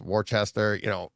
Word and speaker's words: Worcester: Worcester, it's Worcester, Framingham, Farmington, all that stuff.